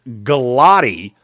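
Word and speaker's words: Gillotte: I cannot pronounce this kid's name to save my life. Fourth round Ashton Galotti. Every time I come up with a pronunciation that I see the pronunciation for it, somebody tells me, "Nope, you're wrong." So now it's Ashton Galott, edge rusher out of Louisville.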